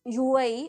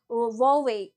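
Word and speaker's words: Huawei: so this uh Chinese company this is not pronounced as UA okay so because H is silent here so we pronounce it like hwei okay launches world's first trifold smartphone launches first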